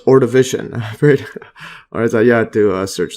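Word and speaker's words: Ordovician: uian period yeah or I think it's pronounced or division or you had to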